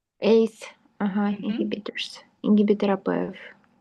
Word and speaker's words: ACE: AC inhibitor. inhibitor. You can uh pronounce it ACE inhibitors. ACE Uhhuh.